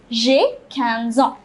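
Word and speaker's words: j'ai quinze ans: let me say cans 15 so jay canson j canson see the pronunciation it is jay canson next what would you say about yourself you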